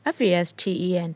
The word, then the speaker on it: fasten: folded folded folding ခောက်သည်အဝတ်တွေပါခောက်တယ်စကူတွေပါခောက်တယ်သုံးတယ်နော်ပြီးရင်ဒီမှာဆိုရင် fasten t is silent sound မှာ fasten fastened